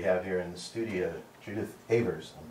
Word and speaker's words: Judith Avers: Mitchell Bell, and we have here in the studio Judith Avers. I'm pronouncing that correctly, right?